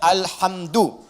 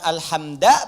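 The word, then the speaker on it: الحمد: Dibacaannya alhamdu, bukan alhamda pakai fathah atau alhamdi pakai kasrah.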